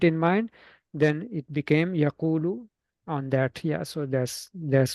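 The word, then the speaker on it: يَقُولُ: So they switch their spot and then becomes yaqulu. Yeah. Supposed to be yaqulu, just like yansuru, right?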